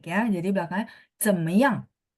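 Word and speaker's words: 怎么样: Nah, belakangnya jangan naik ya. Jadi belakangnya 怎么样?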